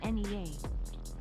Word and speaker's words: Nea: Extra bit donations are left up in the ranks in case you play against legacy NEA. I love how it doesn't even pronounce the name Nia. It is Nea, the the unspoken one.